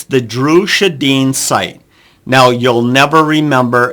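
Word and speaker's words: Sjodin: frequently it's the Drew shadeen site now you'll never remember and you'll never spell that right Drew shadane it's it's d-r-u Drew and shadin is s-j-o-d-i-n you'll never remember that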